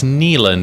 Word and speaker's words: Nieland: It's Nieland. It's Nieland. Land. It's a good German name, and I learned a long time ago. Nieland. A good German name. 2 vowels together, you pronounce the second vowel.